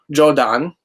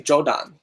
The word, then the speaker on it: Jordan: my name wrong uh so it's jordan because they don't have ours in japanese i'm not sure if you can see it but um japanese so they call me jodon like hello what's your